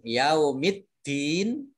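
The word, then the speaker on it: يَوْمِ الدِّين: Kemudian Yaumiddin, alif lamnya ini alif lam syamsiyah tidak dibaca. Kemudian langsung masuk ke huruf berikutnya yaitu dal, ditandai dengan dal tasdid. Ini dalnya dibaca double.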